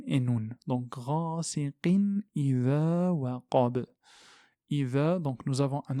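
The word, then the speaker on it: وقب: Comme ici, waqab, waqab. Donc on s'arrête sur un soukoun et on claque la lettre.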